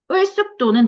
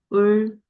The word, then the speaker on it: 을숙도: 을숙도는 된소리 되기 두 번 일어나죠. 을숙도.